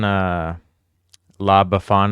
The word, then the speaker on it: La Befana: And I found this one, La Befana, I think is how you say it.